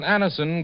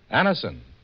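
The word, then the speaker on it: Anacin: It's so unnecessary to suffer from the pain of headaches, neuritis, or neuralgia when Aniston gives you such incredibly fast relief.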